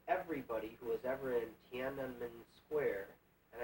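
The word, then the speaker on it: Tiananmen: I said, "Even if they kill everybody who is ever in Tanun Square," and I'm one of the few people that pronounced it correctly. Hard to get that NM in Tan.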